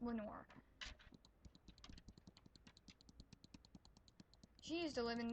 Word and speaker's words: Lenoir: So, my mom, she lived in this little area here in a town called Lenoir. It's actually a French name, Lenoir. That's how it should be pronounced, but it's pronounced Lenoir.